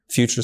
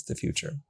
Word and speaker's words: Futur: Future is spelled F-U-T-U-R. There's no E, so you can say Futur, but it's the future.